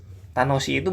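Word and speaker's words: 楽しい: Gimana cara bacanya? Ta-no-shi-i. Nah, ada i-nya tuh, i-nya double tuh, perhatikan ya. Tanoshi-i gitu ya. Cuma dibaca nggak mungkin gitu kan. Dibaca jadi tanoshi, i-nya dibaca agak panjang.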